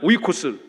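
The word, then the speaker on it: οἶκος: 헬라어로는 저렇게 써요. 발음하면 오이코스. 오이 소박이 아니고 오이코스.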